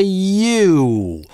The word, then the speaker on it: you: Попробуйте прочитать сочетание русских букв юу, отталкиваясь от «й» и медленно приезжая в «у». ЮУ - Получается английское you.